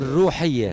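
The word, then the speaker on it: Rouhia: Alors, je prononce mal le mot Roya. Oui. Je le signale, c'est R-O-H-I-A. Et en arabe, j'arrive pas à le dire. Rouhiya.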